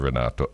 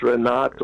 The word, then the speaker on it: Reneto: I don't know that I can correct ex-Prime Minister, but the name, the real pronunciation is Reneto, not Renato.